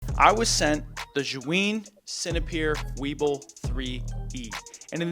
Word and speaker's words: Zhiyun: I watched like 4 videos on how to pronounce this, and the most correct answer I saw was Zhiyun, so that's what I'm gonna say.